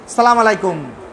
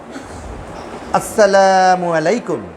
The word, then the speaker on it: আসসালামু আলাইকুম: সালামটা স্পষ্ট করে দিতে হবে। উচ্চারণ শুদ্ধ করে দিতে হবে। আসসালামু আলাইকুম। উচ্চারণ শুদ্ধ করে দিতে হবে।